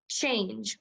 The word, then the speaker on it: change: usually says it's saying just what's my word change what's my word good change let's spell it here we go see H ange1 your